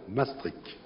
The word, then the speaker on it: Maastricht: Et quant à la prononciation, tous les experts s'accordent pour considérer que ce doit être Maastricht.